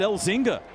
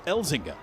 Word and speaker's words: Elzinga: I said his name wrong, I think, all year. I said Elzinga all season. And then he came into the radio station studio the other day, and he says it's Elzinga.